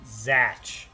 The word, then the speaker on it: Zatch: Zatch. Zatch. That's a great name. Rhymes with patch.